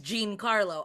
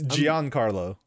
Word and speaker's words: Giancarlo: already played mojo yeah you're all saying his name wrong by the way yeah what is it it's giancarlo i'm following you to me